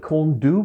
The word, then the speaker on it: Corn Du: A few people call it Corn Du, but I think it's pronounced Corn D.